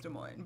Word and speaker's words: Des Moines: I think yeah, it's Des Moines, but whatever.